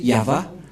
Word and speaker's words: Yahvah: C'est l'alphabet hébreu qui est prononcé Yahva.